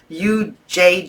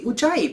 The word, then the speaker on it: Ujjayi: It's spelled U-J-J-A-Y-I, Ujjayi.